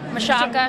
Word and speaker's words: Michalka: Michalka, right? That is right. It's kind of like Shaka Khan. Ooh. It helps with the pronunciating a little bit. Yeah, Michalka, Shaka Khan.